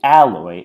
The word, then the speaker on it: alloy: So we say alloy and not alloy. And because the stress is on the A stays the same in alloy, but the oi noise cannot be reduced to a kit vowel or a schwa because diphthongs are too strong.